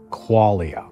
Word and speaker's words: qualia: I want to talk about a couple more things because I recently ran across the word qualia. It sounds like the word quality, right? Or qualified.